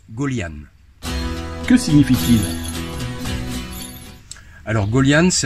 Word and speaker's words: Gøljan: pénible fini s 37 comment prend-on votre nom ça se prononce gaullienne que significative alors gaullienne